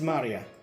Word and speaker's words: Maria: Her name is written, of course, is pronounced Maria.